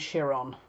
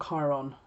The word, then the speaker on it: Chiron: to bypass uranus and shiron or chiron however you want to pronounce it um that's already happened